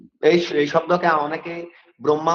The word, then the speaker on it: ব্রহ্মা: আসলে এই শব্দটাকে আমাদের উচ্চারণ করতে হবে ব্রহ্মা, অর্থাৎ হয় উচ্চারণ পরে করবে। কেন পরে করবে, কিছুক্ষণ আগে আমি বলেছিলাম যে ম একটি নসিক্য ব্যঞ্জন, ম হচ্ছে নসিক্য ব্যঞ্জন, সরি নাসিক্য ব্যঞ্জন। নাসিক্য ব্যঞ্জনের সাথে যদি হ ব্যঞ্জন যুক্ত হয়, তবে সেক্ষেত্রে হ এর উচ্চারণ নাসিক্য ব্যঞ্জনের পরে করতে হবে।